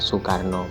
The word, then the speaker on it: Soekarno: sempurnakan bukan ejaan lama semisal Soekarno itu tulisannya Soekarno tapi dibaca Soekarno gitu dan Insyaallah dipaham kedua